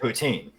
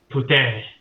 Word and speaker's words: poutine: Yeah, but they yell at you if you say poutine. That's not how it's pronounced. Poutine.